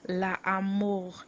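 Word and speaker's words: l'armoire: wardrobe where you H your clothes LA and it's spelled l a a r m o i r e La am that you your wardrobe l a a r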